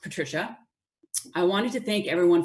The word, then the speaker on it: Patrizia: I'm Patrizia, pronounced Patricia.